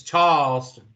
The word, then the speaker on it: Charleston: You didn't say it right, Mr. It's Charleston. You don't pronounce the R.